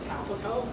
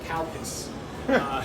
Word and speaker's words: Calpis: It's calico. You might want to refer to it as that, as opposed to the kind of unfortunate English pronunciation of calpis.